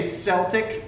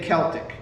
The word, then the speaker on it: Celtic: When do you say Celtic and when do you say Celtic? Huh? Celtic. Celtic always? Always. Unless you're talking about Boston's NBA team. So Celtic is just a mispronunciation that... You're right. The Okay. sports team is Celtic, but everything else is Celtic.